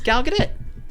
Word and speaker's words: Gal Gadot: It's Gal Gadot.